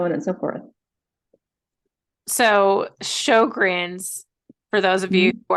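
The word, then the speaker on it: Sjögren's: So Sjogren's, for those of you who are wondering how it's spelled, because before this, I only knew how to say it because I asked Kara.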